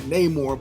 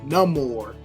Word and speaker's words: Namor: character and they've even kind of changed the pronunciation of his name they call him not Neymar but no more that's what he says in a little preview